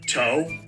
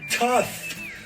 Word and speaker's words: tough: means this word is it be toe no tough you know see how